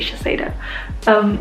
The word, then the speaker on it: Shiseido: That's how it's spelled, so I'm gonna say Shiseido.